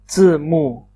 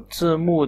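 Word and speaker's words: 字幕: तो सबटाइटल्स को चीनी ज़बान में 字幕字幕字幕 कहते हैं. 字幕字幕. Both are 4 tones, and this is how we pronounce it.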